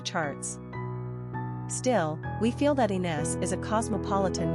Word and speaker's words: Inès: Pronunciation, E and Es.